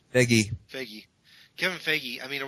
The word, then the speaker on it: Feige: How do you pronounce his name? Feige.